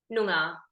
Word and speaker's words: Noongar: How does one pronounce it? Noongar.